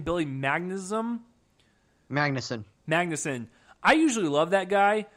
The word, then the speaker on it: Magnuson: Joel, how do you pronounce his name? Billy Magnuson? Magnuson.